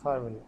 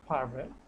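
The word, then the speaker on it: farvel: কে কি বলতেছে এফ এ আর ভি এল ফাভেল হ্যাঁ চলেন ওরা কিভাবে উচ্চারণটা করছে ফাভেল ওকে তাহলে আরেকটা আমরা একটু সফট করবো হ্যাঁ নট ফারভেল ফাভেল ঠিক আছে মানে ফারভেল না ফারভেল ফারভেল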